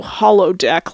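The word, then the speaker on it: holodeck: how to say it but it's hollow hollow deck like like a hologram it comes from hologram like hol ojala all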